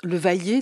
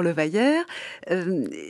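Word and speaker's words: Le Vayer: plus tard, François Lamotte, le vailler, dont j'ai appris à bien prononcer maintenant. Je disais toujours le vaillère.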